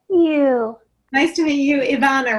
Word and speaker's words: Ivana: Nice to meet you, Ivana, right? Yes, a lot of people have trouble pronouncing it, but you got it right.